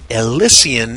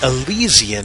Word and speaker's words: Elysian: both pronunciations are correct Elysian is the British way of saying it and Elysian is the American way to say it huh anyway dust is